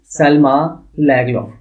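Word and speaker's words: Selma Lagerlöf: वो स्वेडन का रहने वाला है, जिनका नाम है सेल्मा लैगलॉफ. ठीक है, इसकी जो प्रोनाउंसिएशन है दैट इज सेल्मा लैगलॉफ.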